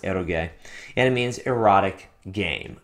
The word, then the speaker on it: eroge: It's pronounced erogay and it means erotic game.